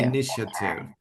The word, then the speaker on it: initiative: a a yes yeah you don't pronounce the a so say initiative initiative initiative initiative well you were you